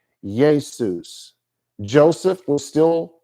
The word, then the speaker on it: Jesus: Hebrew but from Greek the letter J was used to make the y or Y sound so even when the King James Bible was translated our modern word Jesus was pronounced Yus Yus in 1611 all the way through